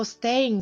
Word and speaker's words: staying: Зверніть увагу на слово staying, закінчення in. Буква G заувальовується, приглушується наприкінці.